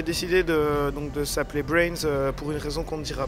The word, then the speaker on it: BRNS: le dira pas pourquoi est-ce que vous vous appelez brains on ne dit pas par contre on peut demander pourquoi est-ce que ça s'écrit BRN S et ça nous fait passer pour des pour des con en règle générale puisquon narrive pas à le dire pourquoi ouais et parfois on nous appelle bnrs aussi voilà c'est ça